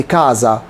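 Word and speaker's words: casa: يعني منزل كازا كازا بقولش كا كا لا كده دي اس سنوره اس سنوره يبقى كاز زي كوز كوز ايزولا ايزولا فازو فزو كل دي الاس بتتنطق بين حرفين متحركين بتنتق ز ز ز طبعا في الاول القاعده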